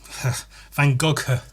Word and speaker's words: Van Gogh: Van Gogh. I think that's how it's pronounced. Should I Google it? Van Go. Yeah, I was right.